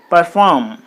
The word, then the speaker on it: perform: the second syllable so perform performed performed verb forms so this is a web so you put the stress mark on the second syllable then it will be